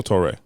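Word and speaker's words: Touré: it's spelled Toure with an accent on the E. It's either Tori or Torre. Right? Because of the accent on the E, I'm gonna go Torre.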